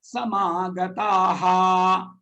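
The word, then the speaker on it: समागताः: Ya etetra samagataha. Yayetetra samagataha. Because this is Visarga, these two dots, one below the other, like colon. It is called Visarga. The sound will be like this. Aha.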